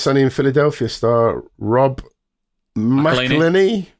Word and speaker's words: McElhenney: It's Always Sunny in Philadelphia star Rob McElhenney. McElhenney. I only put this story in just so you had to pronounce his second I name.